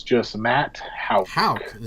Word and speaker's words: Houk: Houk. Am I pronouncing it wrong? Houk. Yeah, okay. No, you got it right.